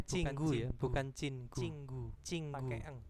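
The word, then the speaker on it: 친구: kafe Oh cingurel man Cin eh copi copy cingu ya BAC bacanya cinggu Ya bukan cingu cinggu cingu Pak Eng Pak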